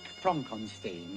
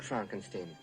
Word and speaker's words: Frankenstein: why isn't it frodwick frank on steam it isn't it's frederick frankenstein i say you must